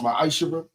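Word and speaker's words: מעשר: You can find this in the book of numbers 18 21 the book of Malachi chapter 3 verse 8-10 means 10th in Hebrew and it's pronounced myisher.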